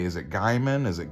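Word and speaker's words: Gaiman: you say is it Gman is it gamman and they were like screaming at me it's Gman it's pronounced gay man and I was like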